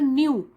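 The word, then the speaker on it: knew: Akbar न्यू that this could be नो one else but Birbal, Akbar न्यू, नो का past tense हो गया न्यू, उसे पता था, ये जो के है वो साइलेंट होता है इसमें, न्यू उसे पता था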